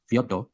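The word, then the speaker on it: Fyodor: now this brother is Fodor or Fodor as I think it's correctly pronounced in Russian but I'm going to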